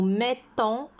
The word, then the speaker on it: mettons: mettez il met et ça se voit au niveau de la prononciation on appuie sur le thé nous mettons vous mettez il met